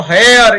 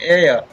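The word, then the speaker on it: heir: Next है इसी प्रकार एयर, एयर, इसको हेयर ये से नहीं बोलते हैं, एयर।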